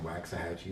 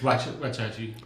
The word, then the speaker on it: Waxahachie: I've been in Texas 11 years and I've been saying Waxahachie the wrong way, and no one's ever corrected me, or Sachi, the city of Sachi. Oh, what'd you call it? I don't know. What do I call it? Wackahatchee? What is it called? What is it called? It's Wachachi.